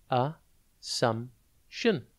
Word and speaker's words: assumption: It is pronounced a-sum-tion, and it is spelt A-S-S-U-M-P-T-I-O-N. Think ass, then ump, and then tune.